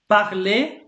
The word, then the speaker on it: parler: So for example, parler, that means to speak. You can tell by parliament. So parliament comes from these words, yeah. So parler is to speak, yeah. You don't pronounce the R here, okay?